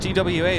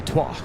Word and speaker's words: TWA: down to far left yeah TW wa is pronounced TW wa because it is an acronym transor yeah so no you would not say twah all in the pawn Airways is an acronym